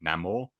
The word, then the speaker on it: Namor: ladies and gents, where he says his name and he says it the Latin way. That's right, Paulie? Namor. That's how you would pronunciate it if you were Spanish.